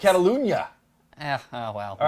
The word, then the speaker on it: Catalunya: There's the new track, Circuit de Catalunya, which I think you just butchered that. what? No, it's Catalunya.